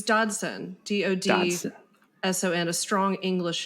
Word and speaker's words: Dodson: Can you pronounce it for me? It's Dodson.